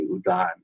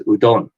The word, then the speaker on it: udon: away I can't stand it when they say Udan it's udon udon so uh and I've I've one of